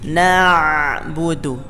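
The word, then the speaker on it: نعبد: Na'budu. Itu yang membedakan dengan orang-orang yang masih keliru bacanya dengan hamzah. Na'budu. Iyyaka na'budu. Harusnya pakai ain, bukan pakai hamzah.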